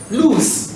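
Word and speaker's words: luz: If I write a word like, let's say, L-U-Z, how do you mention it? Lose.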